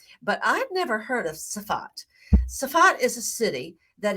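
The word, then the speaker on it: Tsfat: on to the Mountaintop city of soffit some call it soffid it was pronounced safat in Hebrew I believe is it's fought almost like there's no saw at the beginning spot in my blog I spelled it t-s-f-a-t so there are various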